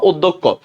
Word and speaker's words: অধ্যক্ষ: তা আমাদের নিয়ম অনুসারে অ এর পরে যদি জফলা থাকে, অ এর পরে কি থাকলে জফলা, তাহলে অ এর উচ্চারণ সংবিত হবে। সংবিত মানে আমরা জানি অটা ও হয়ে যাবে।